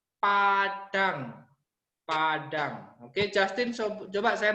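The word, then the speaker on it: padaṃ: Terus ada M titik atas, Padam, dibacanya Padang.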